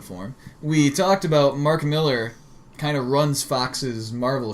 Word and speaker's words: Millar: Was it Millar you used to call him, but his actual name is pronounced Miller? Or I don't want to piss him off. It's Miller. I don't want to piss